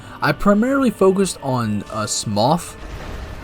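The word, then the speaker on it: Smough: I primarily focused on uh Smoth. People here call him SMO, but I'm pretty sure it's actually pronounced Smoth.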